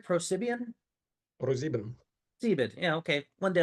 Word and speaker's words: ProSieben: All right, today we have Sergei Kriger, a software engineer at ProSibian. Did I pronounce that right? ProSibian? ProSieben.